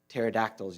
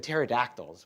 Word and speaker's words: pterodactyls: why you can't hear pterodactyls use the bathroom because the P is silent.